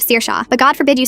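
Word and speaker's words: Saoirse: Sersa who becomes Sorsy instead of Sir Shaw but go forbid you say Mrs.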